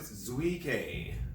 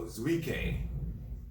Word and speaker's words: Zueike: left it with me you pronounce it zuike so zuike so i'm not sure how